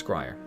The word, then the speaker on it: Scryer: Rhymes with Friar, yes, Scryer.